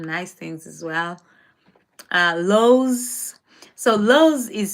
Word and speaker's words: Lowe's: Uh, Lowe's. So, Lowe's is spelled L O W E apostrophe S. The Kenyon in me would pronounce it as Lois or Lois, but it's actually pronounced low.